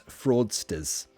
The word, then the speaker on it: fraudsters: Alexandra, how do you pronounce fraudsters? Again, you need that schwa sound. Fraudsters.